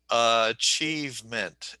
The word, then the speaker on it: achievement: uh, Is it achieve, here? Is it here? Or is it here? Achievement. the second, the second, Achievement.